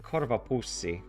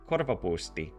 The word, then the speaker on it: korvapuusti: I said korvapuussi, but really it's korvapusti. The ear bag. No, but korvapuusti.